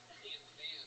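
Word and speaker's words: Tampham: For those of you that didn't read his shirt, Tam Fam is spelled T-A-M-P-H-A-M. Where's it at? Oh yeah. Heavy on the PH.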